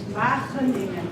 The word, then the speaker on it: Wageningen: And his PhD was at the Institute of Wageningen, and in the Dutch way how to pronounce that is Wageningen.